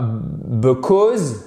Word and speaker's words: because: Vous voyez ce qui se passe ici. Quand vous avez une apostrophe, dans les mots de 2 syllabes ou plus, ça signifie que la syllabe qui est juste derrière, c'est celle qui prend de la hauteur, qui est accentuée. C'est celle qui est porteuse de quoi? L'accent tonique.